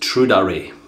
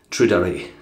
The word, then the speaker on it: Tradere: Yeah, Jay tells me it's pronounced Tradere. Tradere.